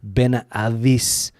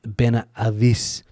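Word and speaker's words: Benahavís: Ben Ais because the H isn't pronounced. So, and there's also an accent on the I I believe the place in Malaga. Ben Ais is the name.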